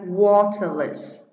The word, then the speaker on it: waterless: Câu số 5 chúng ta có phương án A, waterless. Chúng ta thấy đuôi less không ảnh hưởng đến trọng âm của từ, chúng ta chỉ xét từ water và trọng âm rơi vào tiết đầu tiên.